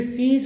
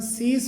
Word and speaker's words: cease: इसे सीज करके बोला जाता है, जबकि इसका सही प्रोनाउंसिएशन सीस होता है, सीस।